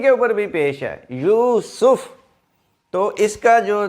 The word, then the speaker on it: یوسف: ہے اور سین کے اوپر بھی پیش ہے، یوسف۔ تو اس کا جو تلفظ ہے آئندہ سے آپ یوسف ہی بولیں، YOOSOF، یوسف۔ اچھا جی، اگلا لفظ حضرت زکریہ علیہ